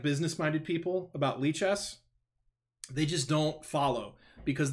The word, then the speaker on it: Lichess: bother you oh yes it is pronounced lee chess and we have multiple